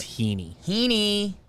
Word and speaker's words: Heaney: changes a man stop baseball reference pronunciation is heaney thank you coming from